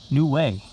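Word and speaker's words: Nouméa: involvement now this one I know you pronounce is new way it's it's yeah I had a teach myself how to say it New Way new way and that is off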